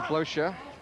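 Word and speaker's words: Blöcher: Brought out by the other centre-forward, Stefan Blocher. That's how he likes his name to be pronounced, although I must say many people in hockey have got used to calling him Blocker, so if Jim does that, I'm sure everybody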